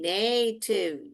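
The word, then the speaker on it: native: वैसे मैं बोल रही हूं ये टी आई वी को टिप न ए नेटिव नेटिव न ए नेटिव ई जो है साइलेंट है।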